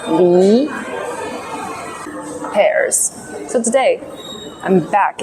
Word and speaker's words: 梨: Li, second tone, right? Li.